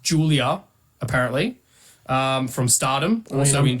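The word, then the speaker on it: Giulia: Number 2, and this is pronounced Julia, apparently, from Stardom, also in Japan. No offense, but I'm pretty sure that's obvious. I would have called it Is it? Gulia.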